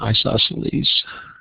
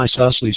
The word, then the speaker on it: isosceles: And because it has two sides that are the same, it's an isosceles. Isosceles. Yeah, I guess that's right. For some reason I was thinking I was pronouncing it incorrectly, but so it's an isosceles triangle.